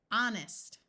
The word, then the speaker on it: honest: of a word usually sounds more like R honest we can add prefixes and the H Still Remains silent dishonest we can add